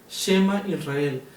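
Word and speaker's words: Shema Yisrael: Bien, principalmente vamos a ver que la pronunciación o la fonética en hebreo sería Shema Israel, Yahweh Eloheinu, Yahweh Echad.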